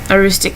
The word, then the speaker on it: Aroostook: lives um up all the way up in Aroostook County and that is how you pronounce it for you non-manners it's a rooster